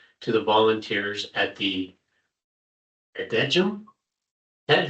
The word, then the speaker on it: Adegem: thanks as amended to the volunteers at the Adegem. Ted, how do you pronounce that in the Belgian or Belgium? Is it Adegem? Maybe. Adaham.